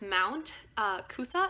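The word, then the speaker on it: Mount Coot-tha: Well, we tried to go, okay, so there's this Mount Kutha is how you say it.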